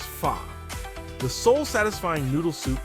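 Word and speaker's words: phở: a steaming bowl of fox pronounced fa the sole satisfying noodle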